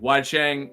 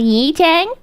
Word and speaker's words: Yi-Chang: Listen, Wai Chang, his voice is pretty sexy. I'm not gonna lie, so I do get that. Actually, according to his website biography, it's pronounced Yi-Chang.